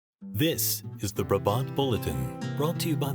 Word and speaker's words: Brabant: the modern-day European brabant pronounced brabant I'm sure that's controversial to some is a heavy horse